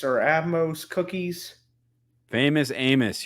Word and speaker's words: Amos: heard of the famous Atmos or atos cookies famus Amos you're saying it wrong Amos Amos Amos yeah have you ever